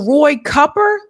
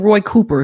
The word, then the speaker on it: Cooper: for a second so Roy cupper is it copper everyone I know calls him Roy Cooper because it's spelled Roy Cooper but anyway uh Roy